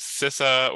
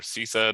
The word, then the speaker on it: CISA: I'm the Deputy Assistant Director for Engagement with CISA, or CISA, depending on how you hear our name pronounced, the Cybersecurity and Infrastructure Security Agency.